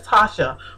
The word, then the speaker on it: Tasia: It's me, Tasia. I call you Tasia, but I know your name is Tasha.